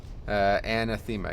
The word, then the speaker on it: Anathema: Anathema, that's it. Yeah, I used to pronounce it silly. Anathema. Anathema. Yeah, that's how it's actually pronounced, yeah.